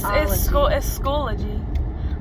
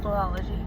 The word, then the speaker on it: Schoology: It's Schoology. But everyone pronounces it Schoolology. I pronounced it Schoolology at first, but now there's a lot of words that are hard to pronounce.